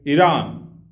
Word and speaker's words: Iran: Or to say it properly, Iran.